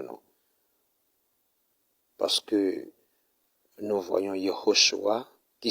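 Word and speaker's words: Yehoshwah: Parce que nous voyons Yehoshua qui s'écrit Y-E-H-O-S-H-W-A-H.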